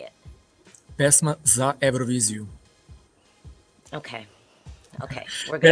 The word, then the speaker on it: Pesma za Evroviziju: So can you pronounce the national selection for me? Like, how do y'all say it? Pesma za Evroviziju. Okay. Okay. We're good. Pesma za Evroviziju, da.